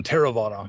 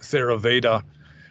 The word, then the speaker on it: Theravada: a a response to the term theravada or as a lot of western buddhists will pronounce it ceraveda which means you know